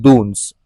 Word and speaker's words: Doons: पर दिखाई देता है उसे हम कहते हैं दून्स। ओके, इसका स्पेलिंग होगा DOONS या फिर DUNS।